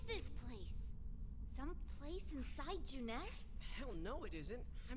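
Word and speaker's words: Junes: place some place inside jeunesse hell no it isn't i mean oh no they actually pronounce it jeunesse okay here i thought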